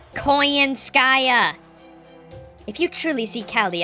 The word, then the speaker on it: Koyanskaya: call her conan skaia he keeps getting her name wrong what a strange question do it do we appear to be treating this as a game do you con nanskaya it's koyanskaya if you truly see